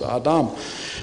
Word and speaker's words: Adam: And the vowels were added later to help people who couldn't read just consonants, and those are the two vowels, and that's pronounced Adam.